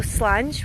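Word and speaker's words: Slàinte: So we're called Slancha, Scotland. That's the name of our company. So Slange, which means cheers in Gaelic, and I'll just spell that for you guys.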